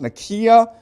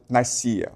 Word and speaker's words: Nicaea: Okay, it's properly pronounced Nicaea, but most people pronounce it Nicaea.